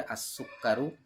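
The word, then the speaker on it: السكر: তাহলে আত আলিবু ছাত্রটি, এখানে সিনকে যে সরাসরি ধরবে, আসুক্কারু চিনিটি, এখানে দালকে যে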